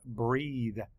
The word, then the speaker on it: breathe: We're just circling that part that we said, breath, but it's pronounced differently now.